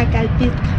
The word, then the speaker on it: Acalpixca: Acalpizca. Acalpizca. Eso, lo pronuncié bien, muy bien.